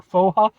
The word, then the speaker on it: Pho: called F ha or FAA I know it's technically pronounced F but I'm going to